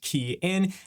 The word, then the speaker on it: Kian: Hey everyone, it's from the ride share guy pronounced key in.